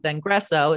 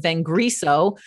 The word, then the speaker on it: Vengreso: you know my pronunciation hey this is biblica von rosen with vengreso it's not viveka von rosen with venguso um and then i